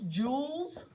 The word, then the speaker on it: joules: are not familiar with it's joules j-o-u-l-e-s it sounds like a diamond but it's spelled different the symbol is Big